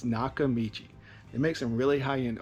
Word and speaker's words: Nakamichi: Nakamushi. Nakamushi. Not quite. What does it say? I don't know. Whether you can pronounce it or not, this is a brand that you need to know. It's Nakamichi.